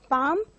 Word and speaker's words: palm: L is silent for the word palm.